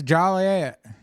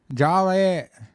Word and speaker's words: Joliet: But that's like one of those funny things like you can't say Joliet wrong or you get you're going to get fined. What are you talking about, man? It's Jolliet. Jo. Joliet. Yeah.